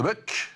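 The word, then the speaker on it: De Boeck: C'est paru aux éditions de Buck. Tout à fait. C'est comme ça qu'on prononce, effectivement, c'est franco-belge, il me semble.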